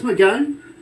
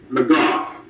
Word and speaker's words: McGough: Is it Chris McGowan? McGough. McGough. Okay. Yes, Didn't want to call him Magoo.